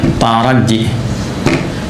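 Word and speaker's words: ترجّي: Ya, tarajji. Tarajji. Ee bukan taraje ya. Taraje. Oh, apa taraja nih? Taraj bacanya gitu ya. Bukan ya. Tarajji.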